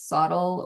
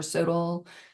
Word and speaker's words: SoTL: Depending upon where you are across the country, you might have heard it pronounced both ways, SOTL or SOTL, sort of like tomato.